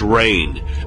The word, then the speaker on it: Raynor: else the tomb Bears the family name Raynor which can be pronounced rain meaning French for Queen we see both biblical